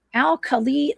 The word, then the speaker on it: Alkali: The um Al Kali Lake Monster. That's how you pronounce that.